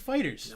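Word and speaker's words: FighterZ: fighters it's actually type it is fighters it's pronounced fighters know what's fighters a dude I swear to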